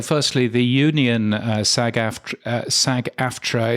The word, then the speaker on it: SAG-AFTRA: my car is uh is Sag aftra or sagafra as I believe uh I've heard it pronounced but anyway um that